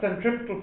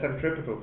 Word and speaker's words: centripetal: least right then the centripetal force is the negative of the force that makes it move in a circle we call that centripetal force you can pronounce it centripetal or centripetal whichever you like before I said it